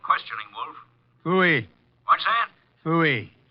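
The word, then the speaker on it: Pfui: Fooey. It can be spelled in several ways. I spell it P-F-U-I.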